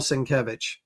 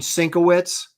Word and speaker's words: Sienkiewicz: I said, uh, yeah, there's something about Bill Sinkevich. And he goes, you mean Sinowitz? You know, there's nothing wor This is what drives me nuts. It's people that think they know stuff and they don't